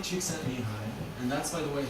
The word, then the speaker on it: Csikszentmihalyi: Mihai Csikszentmihalyi, and that's by the way how you say